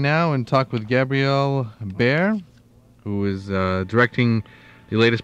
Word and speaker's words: Barre: Yeah, Gabriel Barre. Actually, my last name is pronounced Barre. It's spelled B-A-R-R-E. Oh, okay. But so not uncommon to pronounce it the way you did, but I actually pronounce it Barre.